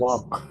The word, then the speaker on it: walk: Oke, untuk berjalan nanti cara bacanya L-nya nggak usah dibaca ya. Jadinya gimana, Miss? Walk.